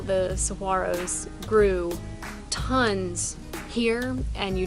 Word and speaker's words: Saguaro: We went to Saguaro National Park, or if you're from the area, Saguaro. We had never heard it pronounced this way, but apparently that's the way that you're supposed to say it.